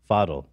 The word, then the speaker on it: Faddel: this is apparently Dr fidal how do you say it father because he's Lebanese yeah foddle also giving me Dr